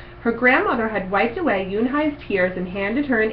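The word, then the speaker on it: Unhei: "Une?" the girl asked, scrunching up her face. "Une," some kids chanted. No, Yoon Hai corrected. It's spelled U-N-H-E-I. It's pronounced Yoon Hai.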